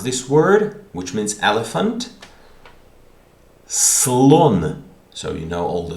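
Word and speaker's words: слон: Okay, for example, in the word read, how do you pronounce this word, which means elephant? Slon.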